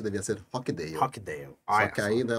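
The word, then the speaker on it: Rochdale: Eu acho bonito falar Rochidale. Você sabe que Rochidale, o nome deveria ser, a pronúncia deveria ser Rockdale.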